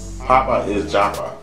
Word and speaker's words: Pappaisjappa: Pappaisjappa. I had to break it up because I see the is and I see the Java.